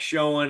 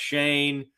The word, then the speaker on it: Schoen: This guy's name is, it looks like Schoen. I think it's pronounced Shane.